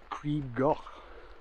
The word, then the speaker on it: Crib Goch: We're going to be going up the Pyg Track before heading off up Crib Goch. Apparently that's the right pronunciation of it, but you know me and my Welsh, don't mix very well.